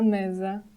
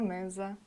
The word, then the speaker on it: mesa: S between 2 vowels sounds more like letter Z. For example, a sopa, a mesa, a mesa.